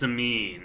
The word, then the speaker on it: Samhain: Next, we have Milesius of Iberia merging into Queen Samine, spelled Samhain, but pronounced Samine, a female warrior.